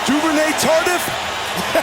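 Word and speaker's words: Duvernay-Tardif: Duvernay Tardif?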